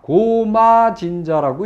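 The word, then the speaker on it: 高麗神社: 그런데 읽기는 뭐라고 읽느냐? 고마진자라고 읽어요.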